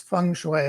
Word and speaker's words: feng shui: I don't know if I'm pronouncing that correctly. It's feng shui, I think, is usual pronunciation.